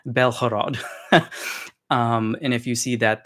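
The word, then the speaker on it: Бєлгород: In Russian, that's pronounced with a g, and in Ukrainian, it's pronounced with a h sound, like an H. So the Ukrainians should call it Belhorod.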